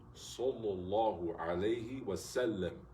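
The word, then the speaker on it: صلى الله عليه وسلم: All these, Sallallahu alayhi wa sallam, because there's a Sawd and there is a Seen. But if you make the Sawd sound like a Seen, you're not saying it right. Sallallahu alayhi wa sallam, right?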